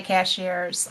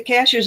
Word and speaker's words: Cashiers: And I still say cashiers and I know it's not. And I still But cash C cashers is the way the natives say it.